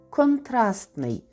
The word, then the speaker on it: контрастний: від нього прикметник баласний і хоча пишемо бала й то читаємо баласний компост компостний контраст контрастний Т не вимовляється але пишеться Якщо вам Цікаво було